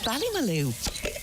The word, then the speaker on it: Ballymaloe: Barbecue. Rhymes with Ballymaloe.